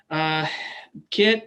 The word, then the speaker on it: Kit: It's called Kit that rhymes with a knit or first aid kit.